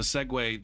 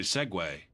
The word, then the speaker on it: Segway: the this one looks like segu but it's really segue that's why they respelled it so that people would pronounce it right when they ordered the